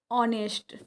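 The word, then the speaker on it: honest: को पढ़ाया जाता है कि इसमें एच साइलेंट होता है। ठीक है? तो यहां पे अ साउंड करेगा डैश ऑनेस्ट गर्ल।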